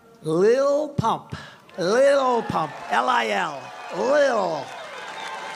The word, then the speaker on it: Lil: Lil Pump, L-I-L, Lil. I said, how do you pronounce that? They said Lil.